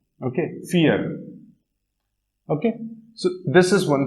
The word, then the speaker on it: vier: And when I and E are together, the pronunciation is same as this, E.